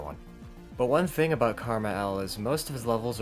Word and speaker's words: KrmaL: Well, I know I have one, and that person is Karma L. Karma L, yes, that's how it's pronounced, is my favorite creator in this entire game.